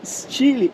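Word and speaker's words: Style: o novíssimo Peugeot 208 Chile sim lembra do tempo este lhe escreve se saio em inglês mais pronuncia-se estilo hein hum solar e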